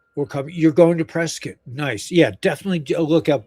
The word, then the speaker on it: Prescott: It's like brisket, you know, um What's better than hugs?